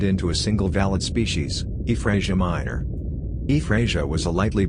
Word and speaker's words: Efraasia: E-FRAHS-ee-A. E-FRAHS-ee-A, pronounced E-FRAHS-ee-A, is a genus of basal sauropodomorph dinosaur.